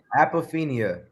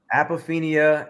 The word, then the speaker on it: apophenia: project and it is called how do you pronounce it apophenia what is apophenia apophenia and they would explain it way better than